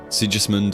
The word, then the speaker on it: Sigismund: be very impressed sigismund with a hard G so oh so like